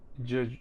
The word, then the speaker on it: Judge: Murphy is back with judge judge judge rainold it's always weird to say his name because it's judge and and you think oh I'm pronating right so no it is Judge yeah judge rainold uh